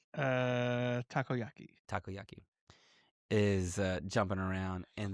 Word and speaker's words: takoyaki: Tokiyaki. Takoyaki.